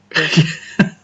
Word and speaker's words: Melbourne: Well, it's not Melbourne, is it? It's Melbourne. Melbourne. Doesn't have an R in it.